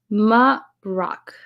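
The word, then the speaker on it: Marrok: Maroc is how you say it. Maroc.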